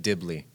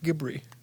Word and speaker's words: Ghibli: He said Dibli. He said gibbery. Ghibli. It's pronounced Ghibli.